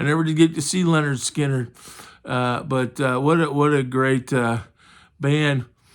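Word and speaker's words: Lynyrd Skynyrd: And on a related note, the next one was Leonard Skinner, their first album, which is pronounced Leonard Skinner, and it's got Freebird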